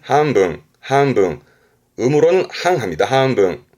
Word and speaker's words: 半分: 발음은 한분, 한분.